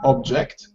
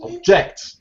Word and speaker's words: object: say object object ah so the stress in the noun is on the first syllable excellent object and the stress falls on the second syllable with the verbs object okay just in case